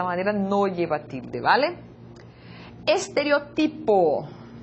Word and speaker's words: estereotipo: Estereotipo. Estereotipo. Observa la tónica de la palavra diferente también de la lengua portuguesa.